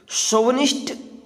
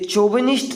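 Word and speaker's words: chauvinist: शोवनिस्ट CHUVINIST, शोविनिस्ट। सबसे पहले तो इसको हम आप किस तरह से प्रोनाउंस करेंगे देख लीजिए। ये चोविनिस्ट नहीं होता, ये होता शोविनिस्ट।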